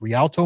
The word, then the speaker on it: Rialto: remind them that uh your company that I mispronounced at the very beginning is Rialto marketing and you started this